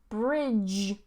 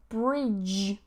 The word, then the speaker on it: bridge: But this DG turns into a J sound.